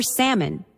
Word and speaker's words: salmon: link to Latin insula, or salmon with a silent L.